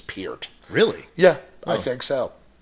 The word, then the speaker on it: Peart: I want to say Pert because I've said Pert my whole life, but I think the family name is Peart.